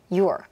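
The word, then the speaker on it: you're: You are도 your 아주 기본적인 건데 you are 즉 너라는 소유격이 your잖아요. 이거 발음기도 똑같다고 생각하시면 돼요. your 그 다음에 he is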